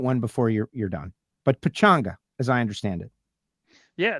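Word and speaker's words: Pechanga: Pachanga. That's how you pronounce it.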